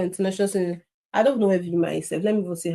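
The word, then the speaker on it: Weimar: like international students in is it pronounced V or V? My German with E, I, and I, E is always a problem. I, V. Yeah, I think it's Vimma. I think that's the correct pronunciation.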